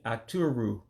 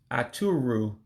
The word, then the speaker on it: Aturu: Sheep, the full-grown version would be Aturu. Aturu, sheep.